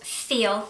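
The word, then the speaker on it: Pfeil: are Swiss made it's a brand called feel which means of the peel but you pronounce it feel and they are absolutely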